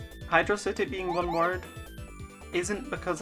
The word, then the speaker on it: Hydro City: can get Supersonic in Hydro City. Oh no. Hydro City. Have I just introduced the debate? I'm gonna say Hydro City, not Hydrocity, but I do acknowledge that in-game it's spelled as one word.